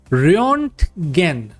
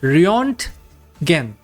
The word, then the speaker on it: Röntgen: So German physicist Wilhelm Röntgen. That's the real pronunciation of the German name. Whenever there are two dots on the zero, it is a combination of U and O. So Wilhelm Röntgen.